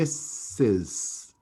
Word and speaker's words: Mrs: to a man this we pronounce me misses misses and not misters these misses we use